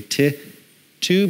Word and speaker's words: Tito: too reminded me that the actual official pronunciation of tea I was supposed to be T 2 because it's tickets to get it anyway by to admission